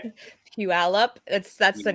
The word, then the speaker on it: Puyallup: But while we're talking about your shows, how do you pronounce that one show? It's like Puyallup or something. How do you say it? Puyallup.